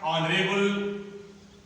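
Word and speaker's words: honourable: आवर, इसका उच्चारण ऑनरेबल, ये ऑनरेबल हो गया, ये आवर, और ये ऑनरेबल, ये इसका ऑनेस्ट।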